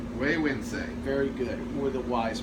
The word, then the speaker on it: Güegüense: It's called Güegüense. Güegüense. Very good. Or the wise man. That is a Nahuatl word which is indigenous to Nicaragua, so it's Okay. not even Spanish.